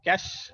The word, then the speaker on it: cache: It is pronounced as a cache, CACHE, memory. Cash, like you pronounce as the money, okay. Give me cash, take this cash, like that. So this is cash in the pronunciation, but it's not that cash, okay.